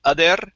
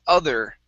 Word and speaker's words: other: um other ducks okay focus on this er instead of other okay rolling the r it's other other ducks other ducks good